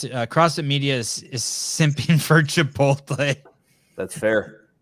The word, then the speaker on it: Chipotle: This CrossFit Media is singing for Chipotle. That's fair. It's the first times you pronounce it correctly.